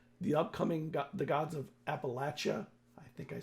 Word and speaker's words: Appalachia: the Fall Tallis the upcoming the gods of Appalachia I think I said it right yes you